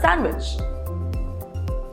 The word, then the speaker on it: sandwich: Is it sandwich or sandwich? You got it right. It's sandwich. The letter D is silent here.